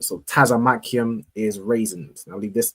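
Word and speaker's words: צמוקים: Tazamakium.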